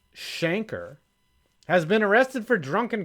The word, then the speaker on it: Schenker: Coach Schenker, pronounced Shanker, has been arrested for drunken conduct.